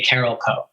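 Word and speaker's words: Carolco: it's probably is it Carol Co or is it caral co everybody in the building used to say Carol Co Carol Co yeah but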